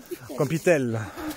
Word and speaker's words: Campitello: Campitel. Voilà, mais on n'est pas obligé de prononcer le O, on m'a expliqué.